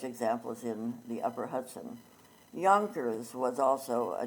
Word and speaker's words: Yonkers: in the upper Hudson Yonkers was also a Dutch and it was filled with a J but pronounced like it was a y and so it was